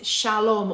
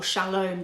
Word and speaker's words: shalom: So in the Old Testament, the word for peace is shalom or shalom, depending on how you want to pronounce it.